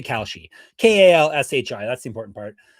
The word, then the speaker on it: Kalshi: I don't think I'm pronouncing it properly still, but I know the she part. We'll say Kalshi.